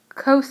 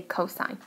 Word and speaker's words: cos: it with just cos so it's not coast of a or cosa vs you say cosine we just abbreviated with